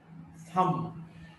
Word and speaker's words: thumb: Now this letter B in the sequence or in the cluster MB, when B is preceded by M, this B is not pronounced. Thumb, Thumb, thumb, this B is not pronounced.